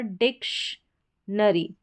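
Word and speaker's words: dictionary: फिर यहाँ पर डिक्शनरी, डिक्शनरी, डिक्शनरी हो गया। TI को यहाँ पर और साथ में O ऐड है, O को अ पढ़ेंगे तो TI का उच्चारण श है।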